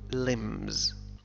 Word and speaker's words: limbs: وقال بأنه رأيت رؤوسا وأطرافا limbs limbs تعني أطراف أيادي وأقدام limbs أو أرجل بي لا تنطق نقول limbs.